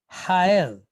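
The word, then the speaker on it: הָאֵל: Then we have the letter aleph, silent letter, but it's pointed with what? Sere, followed by lamed. So o, el, hael.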